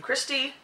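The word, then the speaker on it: Christi: look it up by putting in my name Christy uh with a c r i s TI by the way I never spell it with an H um and it's basically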